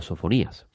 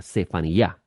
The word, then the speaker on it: Sefaniyá: Por consiguiente, no podía haberse llamado Sofonías. Su nombre correcto era Sefaniyá.